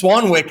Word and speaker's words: Swanwick: I didn't confirm the pronunciation of his last name, so I'm really going to hope it sounds just like it's spelled. As we bring our guest to the call, James Swanwick is joining us here today.